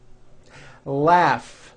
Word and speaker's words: laugh: a strong our freedom laugh notice the gh combination in that word laughs telephone notice the